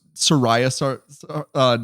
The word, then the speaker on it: Saria: I was like, is that how you're supposed to say it? Sariah. I've only heard Sara. Yeah, I've only heard Sara for her name, so that's how I'll be pronouncing it.